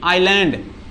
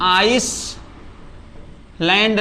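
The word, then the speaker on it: island: देखो जैसे कि हमने लिखा है आई एस एल ए एन डी आइलैंड। इसको हम आइस लैंड नहीं कहेंगे। ठीक है?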